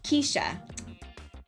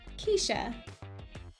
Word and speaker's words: Keisha: It's pronounced Keisha. Keisha.